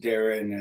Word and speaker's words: Deron: It's pronounced Deron as in Darren.